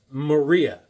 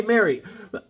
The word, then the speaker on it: Maria: saleswoman her name was Maria I I said I said hey Mary um my name is Maria so then I then the next time I go hey Marie my name is Maria I said oh oh